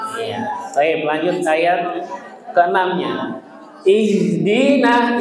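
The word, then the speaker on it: اهْدِنَا: Ihdina. Ihdina jangan ih ih harus tebal Bapak Ibu.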